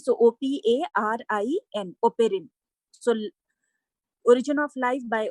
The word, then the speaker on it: Oparin: OPARIN, it is not Operian, right? So OPARIN, ओपेरिन.